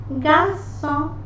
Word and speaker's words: garçon: They are pronounced as garçon, garçon. Letter R is very gentle here. Garçon.